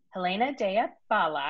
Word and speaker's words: Helena Dea Bala: bit about you um helena daya bala am i saying it right good yeah lisa gave me a